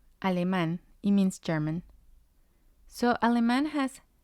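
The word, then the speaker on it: alemán: has the accent let's look at another example aleman aleman means german so aleman has three syllables a because this word ends in n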